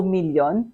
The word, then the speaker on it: milyon: So the million is also million, pronounced the Filipino with a Filipino accent, million, and spelled M-I-L-Y-O-N.